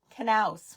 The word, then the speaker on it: Knaus: Miss Mary Knaus with a K. I finally have learned how to say her name correctly. The K is not silent.